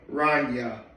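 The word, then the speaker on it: Ronja: Rana, it's spelled R O N J A, but I think the the J sound is a Yah sound. So, Rana.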